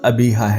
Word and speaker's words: ابیہا: ہے۔ تیسرا اسلامی نام ابیہا۔ لفظ ابیہا کا صحیح تلفظ ابیہا ہے، یعنی آخر سے پہلے والا حرف ہے حلوائی کے بجائے گول ہے اور آخری حرف بھی گول ہے۔ ابیہا کے معنی سمجھدار